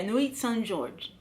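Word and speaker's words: Nuits-Saint-Georges: Yeah, Nuit Saint Georges. That's how you say it.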